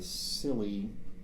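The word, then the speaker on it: Scilly: disaster in 1707 called the silly naval disaster and i checked the pronunciation hoping that it wasn't that but s-c-i-l-l-y are some islands off the southwest coast of england okay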